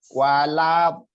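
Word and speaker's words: الضالين: Bo-nya panjang sampai 6 harokat. Waladdallin.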